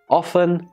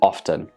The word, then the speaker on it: often: of course we have this word often and often both are acceptable so with some examples